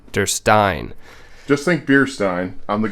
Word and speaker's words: Derstine: this i'm like no we've been saying durston and it's not it's actually durstein der stein just think beerstein i'm the guy behind the bar handing them out it works durstein you did that's okay